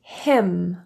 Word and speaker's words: hymn: Autumn, column, condemn, dam, solemn, and hymn.